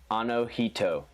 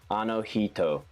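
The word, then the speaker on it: あの人: he like he she anohito but the a native pronunciation the instead of like he it's actually very close to she like it's a mix it's like in between heat and she and it only happens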